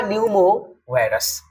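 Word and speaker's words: pneumovirus: है तो it's true यहां पर पी को साइलेंट करके पढ़िए ह्यूमन मेटा न्यूमो वायरस यह एक ऐसा वायरस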